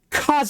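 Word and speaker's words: 風: This kanji means air or wind, and it's still pronounced kaze.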